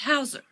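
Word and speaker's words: Heuser: affirmation Mrs Hauser Detective h-e-u pronounced Hauser a thank you he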